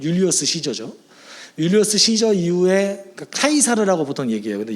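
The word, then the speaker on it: Caesar: 율리어스 시저 이후에 카이사르라고 보통 얘기해요. 근데 영어식 발음으로는 시저라고 얘기하죠.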